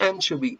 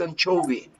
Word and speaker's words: anchovy: we said anchovy but it is not anchovy it's anchovy repeat it again anchovy and chubby okay